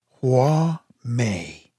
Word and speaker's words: Hua Mei: a little panda receives her Chinese name hua Mei pronounced hua Mei this baby connects China